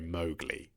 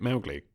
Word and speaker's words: Mowgli: Apparently, Rudyard Kipling's daughter was furious that in the Disney version they pronounced the name of the boy Mowgli, because her father used to say Mowgli.